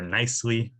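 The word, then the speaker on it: NYCCLI: community land initiative uh or nicely i know it's a little bit of a stretch that's how we pronounce it um and nicely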